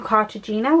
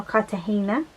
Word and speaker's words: Cartagena: trying to think then we went to cartogina which is in spain or cartagena as i think it's meant to be pronounced and then we went